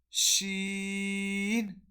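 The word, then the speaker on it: ش: Jim, Sheen, Ya. So when we pronounce this letter, our middle of the tongue touches the opposite palate.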